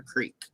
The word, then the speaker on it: creek: So it's like here in America, where like some places it's a crick or a creek.